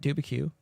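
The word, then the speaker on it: Dubuque: as I pronounced it, Dubicue.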